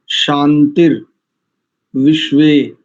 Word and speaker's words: शान्तिर्विश्वे: वनस्पतयः, पतयः, वनस्पतयः, शांतिर्, विश्वे देवाः। अधिकांश लोग विश्वे देवा, शांति, ब्रह्म शांति ऐसा कहते हैं। देखो ध्यान से, शांतिर विश्वे देवाः, शांतिर ब्रह्म शांतिः, सर्वं शांति, शांति रेव शांतिः, सा मा शांति रेधि।